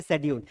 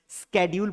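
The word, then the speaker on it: schedule: between this two words अगर British लोग इसे प्रोनाउंस करेंगे तो इसे कैसे करेंगे शेड्यूल पढ़ेंगे क्या पढ़ेंगे शेड्यूल लेकिन अमेरिकन लोग इसे क्या पढ़ेंगे ये जैसा है वैसा ही पढ़ेंगे स्केड्यूल पढ़ेंगे क्या पढ़ेंगे स्केड्यूल पढ़ेंगे स्केड्यूल फॉर एग्जांपल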